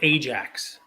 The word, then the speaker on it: Ajax: vintage soccer stickers harder it's pronounced Ajax by the way I